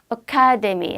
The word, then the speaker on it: academy: 카의 강세거든요. 그러니까 아가 정확히 발음이 안 터져 나와서 academy 하시는 거예요.